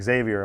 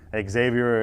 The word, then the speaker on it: Xavier: yeah again it's like Xavier uh Xavier in Spanish is Javier because X is pronounced like a j same thing with Mexico